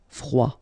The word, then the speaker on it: froid: Froid. Final D not pronounced. Froid.